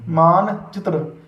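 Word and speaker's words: مانچتر: तो जब हम इसकी हिज्जे करेंगे तो देखिए मीम अलिफ नून मान, फिर चे ते रे चित्र मान चित्र।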